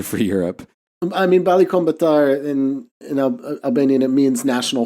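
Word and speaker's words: Kombëtar: Kombatar, yeah.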